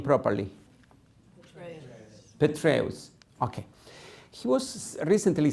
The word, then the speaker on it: Petraeus: I've never been able to pronounce this name properly. Petraeus.